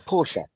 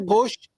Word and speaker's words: Porsche: It's Porsche. It's not Porsche. It's Porsche. Yes.